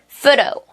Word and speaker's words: photo: 자, 그러면은 f 발음으로 한번 해보도록 할게요. Elephant, elephant. Photo, photo.